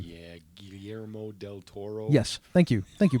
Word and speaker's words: Guillermo del Toro: on Netflix Netflix original and it's written by Gayla Merrell yeah I can't ever say his name yeah Guillermo del Toro yes thank you thank you Bob that's one